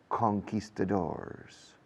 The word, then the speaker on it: conquistadors: It's about the fight between the Indians and the Spanish conquistadors. Fijaos cómo lo digo. Es una palabra española convertida al inglés, mal pronunciada, pero a lo inglés, conquistadors, against the Araucanian Indians in what is today Chile.